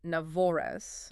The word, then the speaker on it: NAVORES: Marcus Zeke is the founder of a corporate communication firm called N'vor, which is pronounced Navavor. Navoris.